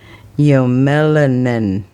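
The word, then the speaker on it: eumelanin: That is a weird one because it's spelled e u m e l a n i n. But when they have the pronunciation underneath that, it says y o m e l u n i n. Is that not y melanin?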